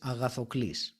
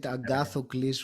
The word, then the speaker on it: Agathoklis: So, my full name, as it's pronounced in Greek, is Agathoklis. So Oh, for most English-speaking people, that's unpronounceable. So even if I said it Agathocles, which was a little bit more, still, it was a very exotic name.